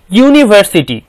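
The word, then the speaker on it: university: একটু উদাহরণ দেখে নেই ইউনিভার্সিটি এখানে এখানে প্রথম শব্দটি ইউনিভার্সিটির উচ্চারণ শুরু হয়েছে ইউ দ্বারা ইউনি ভার্সিটি ইউনিভার্সিটি ইউ দ্বারা শুরু হওয়ার কারণে যদিও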